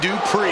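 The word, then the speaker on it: Dupri: Uh, Michael, it's pronounced Dri.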